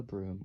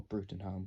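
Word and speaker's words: Bruttenholm: cast for now is Professor Trevor Broome or Brewton home which is not the right way to say it now once again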